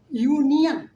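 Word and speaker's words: union: अब देखिए लिखा हुआ है यूनियन, यू हो रहा है ना, यूनियन, तो ये प्रोनाउंसिएशन यूनियन, य का प्रयोग हो रहा है।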